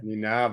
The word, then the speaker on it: Nienaber: Nienaber is how you say it. Nienaber. Nienaber. Think of your knee. Think of the harbour. Think of Nienaber.